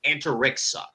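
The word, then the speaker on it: Antariksa: rock and then uh lulu's last name is pronounced anterixa thank you from how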